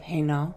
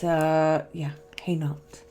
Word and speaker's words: Hainault: So today we're going to talk about Philippa of Hainault. Hainault. You saw in the title how to spell it, but it's Hainault.